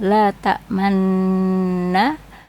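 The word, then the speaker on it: لا تأمنّا: La tamanna itu bacaan ismam. Artinya bibir mencucu di tengah-tengah dengung sebagai isyarat bunyi damah. Cara membacanya seperti mengucapkan nun tanpa bersuara. La tamanna. Jadi bibirnya dimonyongkan seperti mengucapkan bunyi nun.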